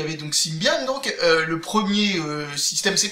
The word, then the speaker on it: Symbian: domaine il y avait sybian ou sbian sybian non ça ça risque pas de se prononcer comme ça même en français même pour un Français qui a vraiment envie de déformer tous les mots je pense pas que quelqu'un s'amuse à prononcer ça sbian enfin bref qu'est-ce que